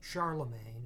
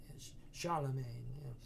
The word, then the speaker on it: Charlemagne: Lula Magna essentially but that's not how they pronounce it of course so they the French me in French say Charlemagne anyway Charlemagne so the